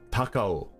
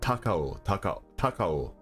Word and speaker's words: Takao: the peak Mount takao taco I I can't pronounce it because I'm not a native Japanese speaker okay takao not Taco is beautiful at The